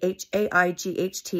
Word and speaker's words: Haight: The family is the Haight family, H-A-I-G-H-T. It is pronounced Haight. That's a Southern Utah name. I'm a Southern Utah native. That's how we pronounce it.